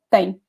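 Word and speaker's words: têm: You say the same. When tem is conjugated in the singular, there's no accent, but when the subject is plural, we put it this accent. But the pronunciation is the same, okay?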